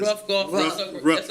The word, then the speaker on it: Ruth: Ruff is my pronunciation. Ruff Davis.